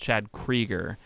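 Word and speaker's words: Chad Kroeger: I always think about that fucking interview with Chad Krieger, which, by the way, if you didn't know, his name, I guess, is pronounced Chad Krieger.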